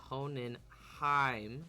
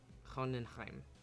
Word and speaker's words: Hohenheim: doesn't already speak German, in most cases when you have a German word and there's an E and an I, the second letter is what is pronounced. So Hohenheim, and so the E is ignored, which is not like English.